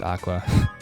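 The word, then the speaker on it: Aqours: was an aqua event the group name might actually pronounced Aqua but I refuse to ignore the spelling that much okay so we have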